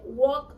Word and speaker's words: walk: Cuando tenemos un verbo como este, walk or talk, no se pronuncia la N. Se pronuncia solamente walk, talk.